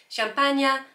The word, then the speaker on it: champagne: So it says, well, I'm going to say it in French because I think that's how it should be said because it rhymes. So, champagne et montagne.